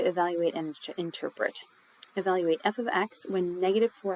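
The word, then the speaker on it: f(x): uses f of x and that's how we pronounce this symbol f of x to represent Y in an equation so instead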